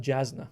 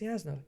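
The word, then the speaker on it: Jasnah: I always pronounce it Jasna, but I was like, it's a J, right? It's a J. And people are like, no, it's Yasna.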